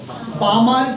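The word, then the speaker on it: Balmer: উচ্চারণটা কি হবে বামার সিরিজ।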